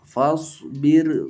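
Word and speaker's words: فاصبر: Pada surat Al-Ma'arij ayat 5 dibacanya bagaimana ra-nya? Tarqiq. Fasbir sabran jamila. Fasbir, ya, tipis, ya. Meskipun syaratnya mirip dengan yang di atas, tetapi karena di dalam dua kata tetap dibaca ra tarqiq.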